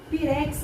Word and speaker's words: pirex: quanto fica pa pira pirex ele tá na última sílaba igual durex Ah então ele não